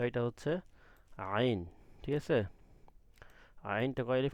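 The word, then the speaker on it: عين: আইনটা কোথা থেকে পড়বেন, গলার কণ্ঠনালীর মাঝখান থেকে ডাবায়া, আগে যত পারেন ডাবাইবেন, ডাবায়া উচ্চারণ করবেন, আইন।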